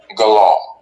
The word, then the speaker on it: Gullah: Pronounced Galah. Galah.